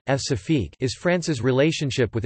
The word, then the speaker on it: Françafrique: Françafrique, French pronunciation, F-Safique, is France's relationship with its former African colonies.